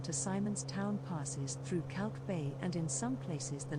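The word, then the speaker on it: Kalk Bay: is a real good tour of k-town chat calc bay pronounced cork bay is a fishing village on the coast of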